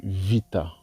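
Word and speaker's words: βήτα: La prononciation de la lettre B, bêta en grec ancien, est devenue vita en grec moderne.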